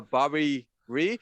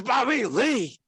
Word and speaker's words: Bobby Lee: introduce me um uh mispronounce my name uh bobby reed it's bobby lee he does that albers